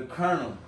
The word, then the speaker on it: Colonel: So like, the colonel.